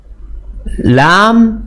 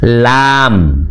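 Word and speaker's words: لام: Lam, lam, bukan la. Bacanya lam.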